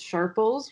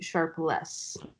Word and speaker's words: Sharples: you said okay is everybody thinks it's Sharples which is because of how it's spelled and it's actually sharp less is less yes sir anyway I